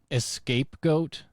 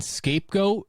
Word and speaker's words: scapegoat: is how you say a guy at work said escape goat and he wasn't doing a quincy reference and I said you mean scapegoat and he goes no and then he want